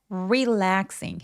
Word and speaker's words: relaxing: because 아니고 because relaxing re 할 때 R로 시작하는 소리들은 입술 쭉 내밀고 relaxing 해 주시면 돼요. relaxing 강세는 내에 옵니다.